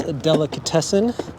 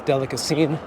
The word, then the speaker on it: Delicatessen: pick up is cats Delicatessen I said it right this time I used to say cat's delicacine but anyway um very